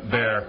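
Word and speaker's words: Baire: Yeah, we can just call it bear. I didn't know if it was bear or by ear or... I think it's just bear.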